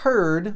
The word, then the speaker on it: heard: I heard what he said. Heard, ok? Essa pronúncia. Mas vê aqui novamente. Não é heard. Não. É só R. Silêncio. D. Só tem 3 sons.